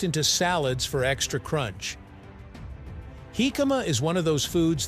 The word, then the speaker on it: jicama: Hikama, pronounced Hikama, is a root vegetable scientifically known as packerisus erosis.